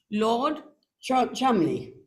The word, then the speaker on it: Cholmondeley: Lord Cholmondeley. Cholmondeley. Is that how you say it? It's spelled Cholmondeley. That's it's pronounced Cholmondeley.